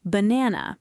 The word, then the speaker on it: banana: Banana, the first A is a schwa.